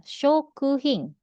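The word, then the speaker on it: 食品: Lalu ada shokuhing. Ya, kanji. Apa ini? Makanan. Tabe. Kanji makan. Hai. Kanji taberu. Ya, kanji taberu sama kanji hing. Ini kanji barang ini dia dibacanya jadi shoku hing.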